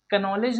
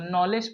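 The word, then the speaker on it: knowledge: इसे हम लोग कनॉलेज नहीं पढ़ेंगे दोस्तों, नॉलेज पढ़ेंगे। क्या पढ़ेंगे? नॉलेज, क्योंकि यहाँ पे के साइलेंट है।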